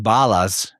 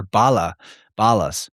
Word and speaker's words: Balas: The word Balas, properly pronounced, sounds exactly like Belos in Greek and Belus in Latin.